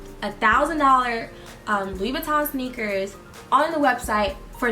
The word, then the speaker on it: Louis Vuitton: And so I wanted to know, how exactly do you pronounce Louis Vuitton? It's not Louis Vuitton, it's a French company. It's Louis Vuitton. Louis Vuitton.